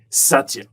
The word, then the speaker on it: Satya: am I saying it correctly Satya thank you Satya perfect Satya um so have a look at